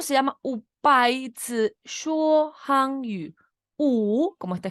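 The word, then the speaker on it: 说: Se escribe S-H-U-O.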